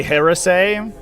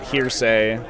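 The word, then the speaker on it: heresy: used to play at had a player who would always pronounce it hearsay those chaos Space Marines they're guilty of hearsay did I charge with everyone unironically he thought that's was how it was pronounced he can't charge pot's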